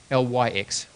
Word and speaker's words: LyX: is another form of writing like this yeah lyx yep um pronounced Li but L YX and it's capital